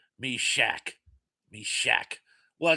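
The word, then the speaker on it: Meshach: Uh, and Cindy says, "That's how you say it, Mish Shok."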